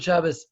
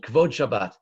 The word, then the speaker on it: Shabbos: Kavod Shabbos is the way in Ashkenazic pronunciation we pronounce Kavod Shabbat, the honor of Shabbat, the notion of honoring Shabbos.